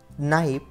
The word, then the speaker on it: knife: 1. Knee, knife, not, no. If you observe all these letters, when we pronounce all these words at that time, there is one letter which is always silent, and the silent letter is K.